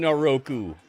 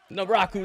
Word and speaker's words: Naraku: He's got Booker T calling him Naroku. His name is not Naroku. What the heck, Naroku? Naraku.